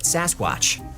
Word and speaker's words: Sasquatch: Mainstream media anglicized the pronunciation and called it Sasquatch and a legend was born.